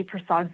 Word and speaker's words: Persaud: For the record, my name is Prasad. That's spelled PERSAUD hyphenated.